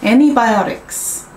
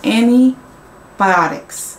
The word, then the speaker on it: antibiotics: 근데 제가 미국에서 살 때, 그리고 지금 여름에도 이제 미국에 저희 엄마 집에 다녀왔는데 느낀 게 미국에 있는 현지인들은 그러니까 T 발음이 안 난다. antihistamine, antibiotics 그렇게 주로 더 발음을 한다라는 거를 알려드리고 싶었어요.